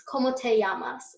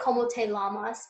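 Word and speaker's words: cómo te llamas: one we have is como te llamas anytime you have a double L in Spanish when you're pronouncing it you treat it as a Y so como se llaman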